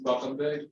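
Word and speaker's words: Bakytbek: to state his name and to spell it for you for the record, please. Yeah, my name is Bakabek.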